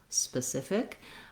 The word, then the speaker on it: specific: an e sound and it's actually a vowel schwa it sounds like a so being very short on that first syllable will help you and thinking about maybe visualizing it as a you spa specific is going to help you get that stress pattern again if i start